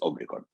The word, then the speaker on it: Omicron: So we went to a word that it's very hard for everybody to pronounce, which is a soft O in Greek. It's not like the O, the omega. It's Omicron.